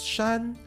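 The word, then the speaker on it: 山: Yama which means mountain now this word in Chinese is pronounced as Shan which also means Mountain one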